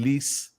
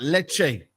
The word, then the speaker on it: Lecce: know what I mean I want to pronounce that right because I keep saying leas um but leche um Manchester United um